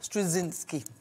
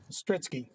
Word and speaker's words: Strizki: tell me, how do you say your last name? Strizki. Strizki. Oh, it sounds so simple when you say it.